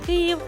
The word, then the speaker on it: Київ: так що є неправильним правильне написання вимовляється як Київ що англійською що українською і зараз я їду